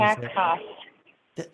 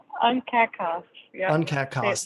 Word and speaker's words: UNCAC CoSP: UNCAC CoSP. See, there you go. UNCAC CoSP, there you go.